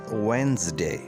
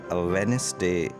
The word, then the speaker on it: Wednesday: हमारा next word है वेंसडे। वेंसडे हम बुध को कहते हैं और इसको वेडनेसडे नहीं पढ़ना चाहिए।